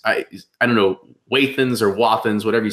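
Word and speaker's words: Wathen's: Yeah, I've met a guy who's an artist, and he's like a third generation non-distiller, and he pronounces it Wathans. So I go with Wathan.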